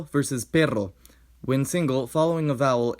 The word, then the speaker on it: perro: R is a tap when single and a trill when doubled, here pero versus perro.